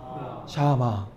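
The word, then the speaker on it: שמע: 한번 발음할까요? 샤마 샤마 샤마 듣다라는 뜻이에요.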